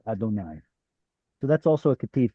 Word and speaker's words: Adonai: Adonai. Exactly. Exactly. The But Masoret said we can't pronounce it as Yod He Vav He. We'll pronounce it as Aleph Dalet. Aleph Dalet Nun Yod Adonai.